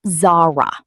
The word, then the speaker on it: Zara: It's pronounced Zara.